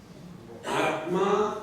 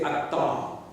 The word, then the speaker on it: Atma: They don't pronounce the conjunct consonants. Atma, they say Atta. Advaita, they say Advaita. Tattvamasi, they say Tattamasi.